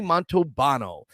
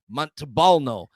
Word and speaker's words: Montalbano: Well, name is Montalbano. And I used to say, because there's an L in there, Montalbano.